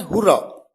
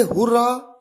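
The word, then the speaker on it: hurrah: आपके सामने सबसे पहला एग्जाम्पल है हुर्रा। इसे हुर्रा या हुर्रे दोनों तरीके से प्रोनाउंस किया जाता है।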